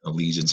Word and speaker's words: allegiance: That I is the reason allegiance has a soft G.